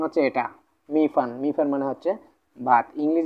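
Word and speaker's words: 米饭: তো প্রথমত আমরা নিলাম মি, তারপর হচ্ছে কি, ফান ফান।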